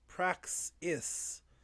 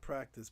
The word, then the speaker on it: Praxis: Praxis. I gotta say it right, not practice.